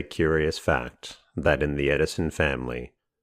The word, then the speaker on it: Edison: It is a curious fact that in the Edison family, the pronunciation of the name has always been with the long E sound, as it would naturally be in the Dutch language.